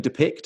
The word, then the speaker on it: Depiqd: So we've got website, and people will wonder how we spell it, but we're saying Depiqd.